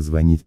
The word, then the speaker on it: звонит: файл с правильными ударениями обратите внимание что в слове звонить при спряжении ударения на волне когда не ставится я звоню ты звонишь он звонит и так далее четвертое задание подпишите части